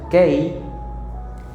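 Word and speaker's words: καί: es en griego, y la palabra kei, que así se pronuncia, kei, en el griego antiguo no es para hacer una separación, sino una afirmación.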